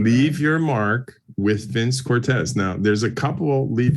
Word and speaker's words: Cortese: Yeah, so it's Vince Cortese. That's it, the proper pronunciation. We were raised Saint Cortez, so we go with what Dad said.